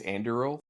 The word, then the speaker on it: Anduril: I think it's Anduril.